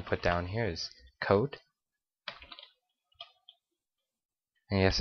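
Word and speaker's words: cout: So first thing that we're going to put down here is coat. And yes, I say it like coat, but enter a number.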